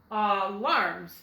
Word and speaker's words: alarms: Let's put our accent at the end, like we talked about last week. And let's split our word between the first vowel and consonant and try an accent on the end. It's going to say, like in wallet, alarms, alarms. Does that sound closer to the way that you're used to hearing that word?